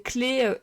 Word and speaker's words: clef: Clé à l'oral et clef à l'écrit. Mais clé, ça s'écrit clé. Même si c'est EF, tu dis pas une clef. Même si ça s'écrit clef.